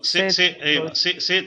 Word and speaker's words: c'est: C'est très beau ici, and T should be silent. T should be silent. Like S-A-Y. How you will pronounce the word in English? S-A-Y. Say.